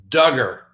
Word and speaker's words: Duggar: first on the docket josh duggar that's right rhymes with hugger as we know one